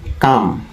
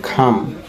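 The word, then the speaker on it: come: আমরা এটাকে জানতাম কাম, কিন্তু এটার সঠিক উচ্চারণ হবে খাম। খাম মানে আসা।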